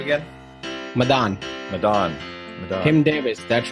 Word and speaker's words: Madaan: Hey, how do I pronounce your last name again? Madaan.